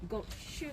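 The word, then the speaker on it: 五週間: How do you say 5 weeks in Japanese? Go 5 shukan. Shugan. Go shukan. I know the means numbers, I just don't know the words.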